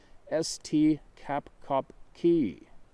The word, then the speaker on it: Esti Kapkaki: To the Seminoles, they are known as Esti Kapkaki, pronounced Esti Kapkopki, the tall man.